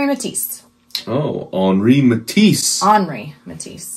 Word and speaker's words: Henri: as we consult the art guides it is Henry matis oh HRI matis hry matis not hry hry hry HRI